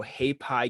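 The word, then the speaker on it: Haypi: this game called like h-a-y-p-i kingdom so hey pie kingdom i pronounce it happy kingdom um it sounds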